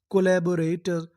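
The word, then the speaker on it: collaborator: तो एल जो हमारा दो बार लिखा है कितनी बार पढ़ेंगे? एक बार। और आगे क्या लिखा है? ए। जो हमारा ए होता है वो ज्यादातर इंग्लिश में ए की मात्रा का काम करता है। तो इतनी मीनिंग को ले बी ओ बो आर ए रे टी ओ आर इसे पढ़ते हैं टर क्या पढ़ते हैं टर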